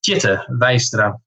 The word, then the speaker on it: Tjitte Weistra: But it is pronounced Tjitte Weistra.